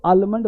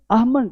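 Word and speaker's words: almond: देखो आलमंड ये गलत है, लेकिन ध्यान देना है यहाँ दो वर्ड होता है एक्चुअली। आमंड, ये जो आमंड है ना, आमंड, ये थोड़ा ध्यान देना है कि आमंड ये है ब्रिटिश, ये ब्रिटिश साउंड।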